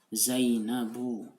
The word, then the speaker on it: Zainabu: Masa Zainabun sih? Padahal itu tidak boleh bertanwin. Jadi bacanya Zainabu.